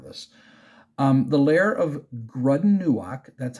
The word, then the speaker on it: Grud'in-nu'ak: read part of this um the layer of grudden Newark that's how you pronounce the name grunden grudden Newark the Hobgoblin